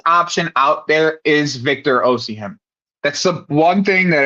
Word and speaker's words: Osimhen: No, it's Osimhen. It's not hard. You just got to read it. Osimhen.